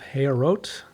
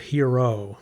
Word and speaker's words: Heorot: it The Legacy of hero uh so with French pronunciation but it's not French it's heot is the